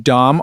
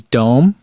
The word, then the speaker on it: Doom: And Frank says they kept saying Dom on the broadcast, but it is Dome.